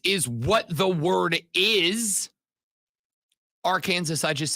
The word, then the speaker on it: Arkansas: in my head always thought AR Kansas by the way even before you and uh isn't that where that came from when when the when the states were established I thought that I believe it was that was originally how it was said and then it metamorphosized into Arkansas I I heard some